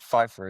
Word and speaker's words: Pfeiffer: Is it Pfeiffer? Pfeiffer, yeah. It's like Michelle Pfeiffer.